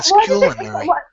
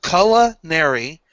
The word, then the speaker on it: culinary: here I'm I'm pronunciations colonary Kary no look two pronunciations two colonary culinary they're both there well a CU ball